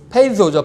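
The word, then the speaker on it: πείθω: 페이도, 시작. 페이소죠, 페이소. 이 th 발음 페이소, 그죠?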